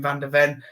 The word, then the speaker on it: Van de Ven: I don't pronounce the same. Van de Ven.